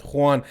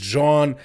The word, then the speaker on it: Jean: That's how you pronounce his last name. Not Yan, not Juan. Actually, it's John.